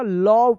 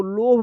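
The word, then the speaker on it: love: लव पढ़ेंगे। लव जिसे बोलते हैं ना लव। लव बोलते हैं। तो यहां पर ई साइलेंट रहेगा। एल ओ वी ई लव इसको लोभ मत पढ़िएगा।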